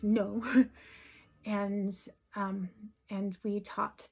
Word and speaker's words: Nau: That's spelled n au but it's pronounced no.